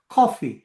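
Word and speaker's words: coffee: ஆங்கிலத்தில அந்த ஓ என்றது வந்து தமிழ் ஓவும் ஆவும் அல்ல அது ஒரு வகையில் சாய்வான ஒரு ஆ காபி.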